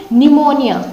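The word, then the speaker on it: pneumonia: निमोनिया, निमोनिया लिखा हुआ है, कुछ और मत पढ़ना, निमोनिया, ठीक है।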